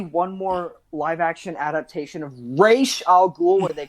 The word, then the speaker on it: Ra's: it right oh yeah it's it's race okay and i i i feel like an elitist but i just that's just like the way it should be pronounced and whenever because when whenever michael caine says raja ghoul i'm like stop right